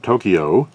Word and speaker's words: Tokyo: pronunciation of the word tokyo are paul herman and jacob roseberry and if you're curious that pr the absolutely correct pronunciation is two syllables only tokyo not kyo but kyo well there you have